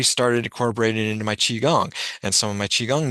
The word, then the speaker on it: qigong: I started incorporating it into my qigong and some of my qigong moves as I do it.